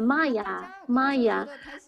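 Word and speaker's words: माया: The love is pronounced Maya. So everyone, when they see me, they always they always say Maya.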